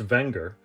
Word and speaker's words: Wenger: Technically pronounced Wenger, the company dates back to the late 1800s.